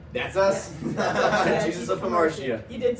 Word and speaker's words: Hamartia: Yeah, Jesus of Hamartia.